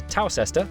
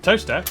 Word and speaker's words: Towcester: Mousehole, Next, travel north up to Towcester, Toaster, then a quick jaunt to Gotham, Gotham, followed by a stop in Quernmore, Quorma, before finishing up in Alnwick.